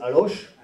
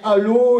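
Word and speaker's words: Allauch: allô hein prend ch mais les journalistes parisiens disent aloche. C'est comme ça qu'on reconnaît qu'ils sont des journalistes parisiens. Mais c'est bien allô et les alodiens et les alodiennes euh qu'il faut prononcer.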